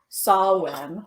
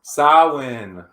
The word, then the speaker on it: Samhain: it comes from the harvest time during paganism, which is in paganism, the harvest time is called Samhain. Samhain.